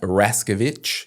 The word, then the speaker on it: Raszkiewicz: And uh today I'm joined by Owen Rascovich. Is that how I pronounce it?